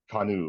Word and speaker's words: Kanu: it's my role then kanu is what we'll call it like like the boat yeah like you could say that it's kanu or kanu that doesn't